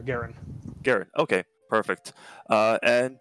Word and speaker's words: Guerin: all i'll see uh like the hockey player garen gary okay perfect uh